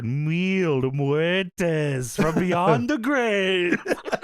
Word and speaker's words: Mil Muertes: Uh Mil Muerz, you got you say it how Melissa Santos says it. wheel muertes from beyond the grave.